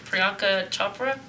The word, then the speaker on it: Priyanka Chopra: I don't want to pronounce it wrong, but Priyanka Chopra?